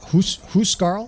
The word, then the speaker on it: Huscarl: Now, the the Huscarl, I was told it was they're they're pronounced Huscarl, like H O Carl.